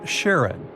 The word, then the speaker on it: Charon: And finally, while standing on Pluto, you would see its five moons: Styx, Nix, Kerberos, Hydra, and the most mysterious one, Charon, also pronounced Sharon.